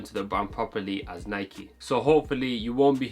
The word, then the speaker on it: Nike: one of two reasons the Nike brand name derives from the ancient Greek goddess of victory and her name was Nike so it originates from a Greek word unlike the English words such as bike as well as that